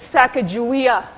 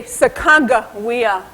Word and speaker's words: Sacagawea: Some say my name is Sacagawea. Others say Sacagawea, or Sacagawea, or Sacagawea. My own husband rarely called me the same thing twice.